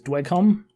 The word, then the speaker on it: Dweghom: dragon which i think last time we were mispronouncing is dwecom that's correct and i am playing